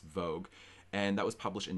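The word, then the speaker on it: Vogt: written by a.e von vogue v-o-g-t uh i'm pretty sure it's pronounced vogue and that was published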